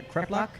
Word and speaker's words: kreplach: And then we have the fried krepla. Am I saying that right? I think so. Kreplach? Yeah, kreplach. Or la.